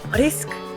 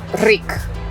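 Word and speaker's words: риск: Risk. Risk. Rick.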